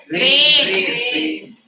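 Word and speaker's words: reign: Rain. R-A-I-N rain and What is rain? R-E-I-G-N rain is the pronunciation is the same, but the word but the meanings are different.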